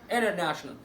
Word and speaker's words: international: international تي جايه قبليها ان وبعديها حرف متحرك خلاص اتحفظت فهتبقى ايه؟ international.